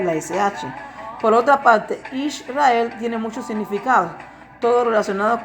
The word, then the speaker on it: Israel: Así que la palabra o la pronunciación correcta para el pueblo de Yahweh es Israel, no Yashar-el, porque la palabra Yashar-el